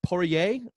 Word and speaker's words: Poirier: fight of the year Dustin Poirier was the French pronunciation defeats Dan hooker in